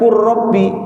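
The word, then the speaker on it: قُلْ رَبِّ: Qul ini lamnya sukun. Kemudian ketemu robi qurbi. Lamnya hilang. Gara-gara apa, Pak? berdeka berdekatan makhrajnya berdekatan ya qul rabbi kok bisa dibaca qu rabbi seakan-akan rnya dua ditasydid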